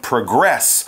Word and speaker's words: progress: talk about moving forward there you would change the pronunciation put the stress on the end progress towards your goal or